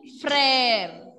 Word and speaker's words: frère: When laxograph will come along with letter E, pronunciation will be English alphabet letter A sound.